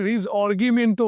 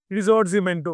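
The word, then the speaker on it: Risorgimento: দেখো, আমি বাংলা উচ্চারণে রিজঅর্গিমেন্টো বলছি, এটা ইটালিয়ানের যে উচ্চারণ হয় রিজর্জিমেন্টো বলে।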